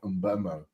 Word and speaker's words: Mbeumo: I keep saying Brian Mbeumo is how you pronounce it, because he did a video a while back.